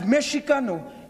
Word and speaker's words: Mexicano: The Mexica came to refer to themselves, listen, as Mexicano. M-E-X-I-C-A-N-O. In Spanish, it's Mexicano. In English, it's Mexican. They also refer to themselves as Chicano. X-I-C-A-N-O, meaning children of the earth. In Spanish, it's Chicano. Mexicano, Chicano came before all the other labels.